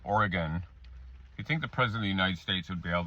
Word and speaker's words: Oregon: can't pronounce the name Oregon. You think the president of the United States would be able to say the name of all 50 states. It's Oregon, not Oregon.